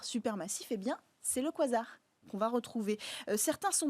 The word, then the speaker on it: quasar: Alors, ces quasars, on appelle ça quasar. Pourquoi ? Parce que c'est la contraction de quasi-stellar en anglais, donc quasi-stellaire, mais on a gardé la façon dans l'usage de le prononcer à l'anglaise.